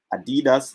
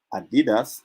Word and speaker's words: Adidas: Adidas is a multi-billion-dollar company. Adidas is a multi-billion-dollar company. So you see me, I pronounce it both ways. Pronunciation varies. Wow.